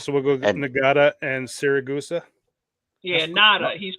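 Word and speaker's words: Ngata: So, we'll go get Nagata and Siraa. Yeah, Natada. He's pronounced Natada. Natada.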